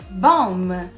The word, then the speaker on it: bomb: Quando a gente tiver a combinação do M e o B em palavras, a gente não vai pronunciar o B, como a gente viu nos exemplos.